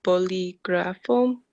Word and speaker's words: bolígrafo: El bolígrafo. Los bolígrafos. Yep, good. Now, notice this word is accented on the second syllable. Boli, boli. So you want to emphasize that. Bolígrafo.